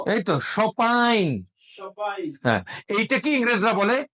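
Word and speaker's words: champagne: serious friends না real যারা ফরাসি তারা এই এম উচ্চারণ করবে না নাকি আনবে সম্পাইন সম্পাইন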